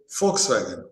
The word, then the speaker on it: Volkswagen: over 150 years and it's called as folkswagen it it has to be pronounced as folkswagen common man's car fork fork fo w k sorry f o l FK folks common man.